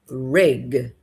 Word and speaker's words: rig: Olha só, a primeira é risk de risco e a segunda é reg de plataforma. Então, muito cuidado com essas duas palavras, risk e reg, ok?